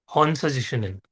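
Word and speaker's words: Hon Sha Ze Sho Nen: हम next symbol पे पढ़ रहे हैं, विच इज हॉन्सा जिशुनन। ठीक है। नाम थोड़ा सा टफ हो सकता है प्रोनाउंस करने में, बोलो मेरे साथ, हॉन्सा जिशुनन।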